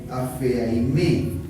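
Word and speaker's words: ἀφίημι: Y entonces esa palabra, perdonan de todo corazón, es una palabra griega que es súper difícil de pronunciar: apheaime.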